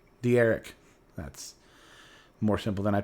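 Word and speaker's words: D'Eriq: De'Eric.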